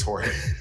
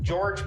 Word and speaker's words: Jorge: You mean Santiago and George? It's Jorge. I thought it was like George but spelled with a J.